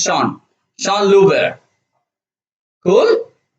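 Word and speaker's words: Jean: invented gear concept okay j-e-a-n but it is pronounced as sean sean luber cool how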